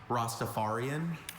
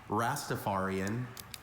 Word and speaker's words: Rastafarian: I have a few pronunciations. Rostafarian. Rastafarian. Rostapharian.